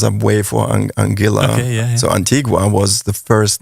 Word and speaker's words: Antigua: to Antiga um yeah the locals say Antiga not Antigua but it's it's named from the Spanish conquistadores so it's of course correct would be yeah would be Antigua MH um we Lov